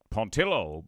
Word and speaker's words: Pontillo: believe is i leave his last name is pronounced pont pontillo uh joe pontillo that's his